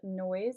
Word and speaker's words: Noizz: to do is go into the app called Noise. It's spelled Noizz, and it's the one right here.